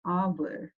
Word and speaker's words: hour: So in the word hour, H is silent and the word starts with the vowel sound hour.